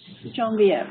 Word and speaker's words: Janvir: So, how do you pronounce his name? Hanvir? Janvir? Yeah. Janvir, yes.